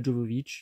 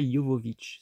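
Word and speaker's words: Jovovich: il y a Mila djovovic donc je dis Mila djovovic comme beaucoup de gens mais je crois qu'on prononce Mila Jovovic me semble-t-il bon bref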